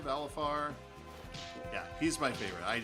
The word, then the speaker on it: Valefar: Valifar. There you go. Or Valefar. I don't know how you pronounce it. Valefar, Valifar.